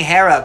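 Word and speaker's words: Hera: like oh I'm saying hair up but I'm saying it like I'm trying to Greek it up a little bit so yeah with the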